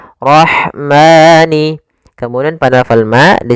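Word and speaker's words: الرَّحْمَٰن: Alif lam yang ditulis tapi tidak dibaca langsung ke huruf ro yang bertasydid. Dan ro di sini ro tafkhim. Rnya harus dibaca dengan tebal. Ro ro tafkhim. Ro tebal. Kemudian pada lafal rah ada huruf ha yang memiliki sifat hames yaitu harus ada jaryanun nafas harus ada mengalirnya nafas kita rah rahmani.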